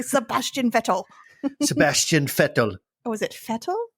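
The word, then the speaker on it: Vettel: how they say Sebastian fetal Sebastian fetal was it fetal it's spelled with a V but pronounced with a V it's SP spelled with a V pronounced with an F pronounced like an F Sebastian vetto okay so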